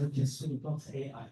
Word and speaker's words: KSUG.AI: I pronounce it as KSUG.AI, KubeSmart and AI user group.